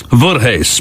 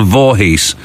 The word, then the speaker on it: Voorhees: He said actually it is spelled I mean pronounced as it is spelled Vorhees.